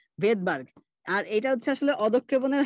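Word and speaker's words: Svedberg: যেখানে আমাদের আপাতত যেটা মনে রাখা, সেটা আমরা মনে রাখতে পারি যে এইটা হচ্ছে ভেদবার্গ। ঠিক আছে, স্পেলিং হচ্ছে এস দিয়ে শুরু, কিন্তু এটার উচ্চারণ হচ্ছে ভেদবার্গ।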